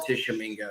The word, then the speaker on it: Tishomingo: A lot of people don't know how to pronounce or even spell Tishomingo.